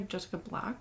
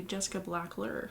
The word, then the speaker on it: Jessica Blackler: i was just calling i was calling her jessica black but her name was actually it's actually jessica blackler so my bad my